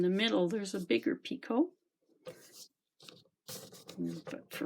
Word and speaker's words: picot: I see of T it's a French word you do not pronounce the T at the end so it's picot and to make a